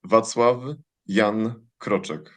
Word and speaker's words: Wacław Jan Kroczek: you pronounce your name my name is properly pronounced vatav yan croch Great. Vas love young Crochek.